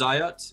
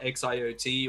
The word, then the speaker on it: Xiotri: uh or how to say it now it's zayat it's not x iot or anything like that um yeah really excited